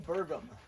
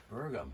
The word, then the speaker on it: Bergum: boudreau with us today jim i could never pronounce i your last name last name burgum burgum burgum well that's just crazy that's just kind